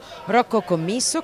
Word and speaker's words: Rocco Commisso: Rocco Commisso, questa è la giusta pronuncia anche se ha detto